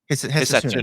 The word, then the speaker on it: Hisatsune: Hisatsune.